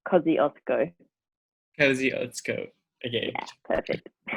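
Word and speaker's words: Kosciuszko: correct it's really close we would say like cozzy osco because let's go okay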